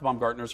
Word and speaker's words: Baumgartner: tidings from the Baumgartner's they pronounced mom Gartner's right yeah okay tell everyone about